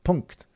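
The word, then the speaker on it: Punkt: mpc or punk'd mp02 as i learned that that's the actual pronunciation punk'd um or on the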